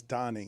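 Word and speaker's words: Tany: It's Tani. It's not Tony. It's not Tony. His name is not Tony Perez. It's not. How does he introduce himself even today? Tony Perez. He is Tani.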